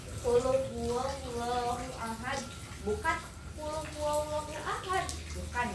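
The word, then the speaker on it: قل هو الله أحد: Kalau tahsin itu untuk kita tahu di mana letak suaranya, biar huruf qaf tidak terdengar seperti huruf kaf. Contoh kita ambil dari surat Al-Ikhlas yang bacaannya qul huwallahu ahad. Nah, dibacanya qul huwallahu ahad, bukan qul huwallahu ahad.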